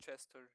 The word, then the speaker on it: Christigard: His name actually is pronounced Chester. He clarified that once.